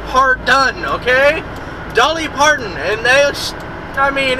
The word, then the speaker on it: Dolly Parton: yes that's just like darling Patton I can never say her name darling Patton are you talking about Dolly Parton yes Dar D Dolly